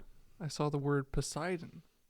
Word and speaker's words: Poseidon: I can't laugh because when I was reading the Percy Jackson books, I saw the word Poseidon. Pedodon and I said postadon.